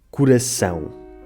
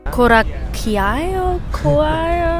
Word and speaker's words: coração: saber que em português, quando uma palavra acaba em EM, esse EM lê-se em coração. Coraquiao? Coraqueo. That was terrible. That was horrible, right? Coracio. Coraco. Not exactly. Coracao. Closer, but... Curaçao. Coração, yeah.